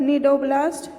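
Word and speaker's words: cnidoblast: और दूसरी बात क्या है, Coelenterata contain the special cell called नीडोब्लास्ट। एंड नीडोब्लास्ट, इसमें भी सी साइलेंट रहता है, ये नीडोब्लास्ट है।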